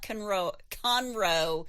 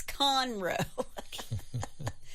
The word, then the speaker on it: Conroe: Country Club near Lake Conroe. I'm getting this wrong. It's not Conroe. It's Conroe. Conroe. All right. The emphasis on the con, okay?